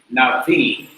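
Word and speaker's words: נביא: So even though you will write the aleph, it doesn't contribute to the sound of the word. So navi is the pronunciation.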